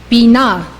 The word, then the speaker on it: Binah: This is how they are pronounced. These 9 Sefirot emanate from Keter. Chokhmah, wisdom. Binah, understanding.